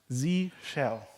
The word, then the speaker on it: zsh: three times today already it is pronounced Z cell which you know shell